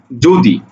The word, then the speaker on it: যদি: এটার উচ্চারণ হবে এইরকম, বর্গীয় জ ওকার, দয় শিকারে দি, যদি, লক্ষ্য করো, যদি উচ্চারণটা এইরকম।